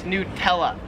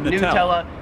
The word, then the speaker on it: Nutella: nutella like it's new nutella here in australia they pronounce it nutella like a yes not yeah nutella not nutella number six popular card